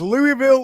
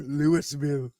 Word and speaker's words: Louisville: If you're in Kentucky, it's Louisville. It's Louisville, yeah. I know that. No. Just I know that. Louisville. Yeah. You have no S in there at all.